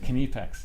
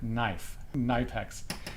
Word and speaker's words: Knipex: videos in the comments, you don't pronounce it Knipex. You pronounce it like Knipex.